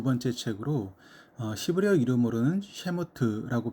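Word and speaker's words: שמות: 출애굽기는 모세오경의 두 번째 책으로 히브리어 이름으로는 셰모트라고 발음하며 그 이름은 이름들이라고 하는 그런 뜻입니다.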